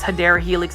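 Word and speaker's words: Hedera helix: the HRA helix or the way correct way to say is Hader Helix English ivy like I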